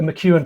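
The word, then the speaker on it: MacEwan: Did you know that there's actually a mchu and tartan which is blue and green although that is spelled m a c e w a n.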